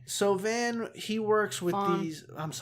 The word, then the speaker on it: Van: So Van, he works with Vaughn. Vaughn. It's spelled Van.